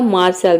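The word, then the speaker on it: martial: अब यहाँ पे देखिए मैंने आर को आधा र क्यों प्रोनाउंस किया, क्योंकि देखिए यहाँ पे आर और टी दो कॉन्सोनेंट एक साथ आ रहा है।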